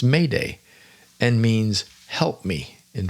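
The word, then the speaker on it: m'aidez: m Apostrophe a i d z which is pronounced Mayday and means help me in French and there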